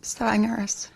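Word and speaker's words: Stavanger: and you live in is it stenger is that how you say it yes stenger which is on the the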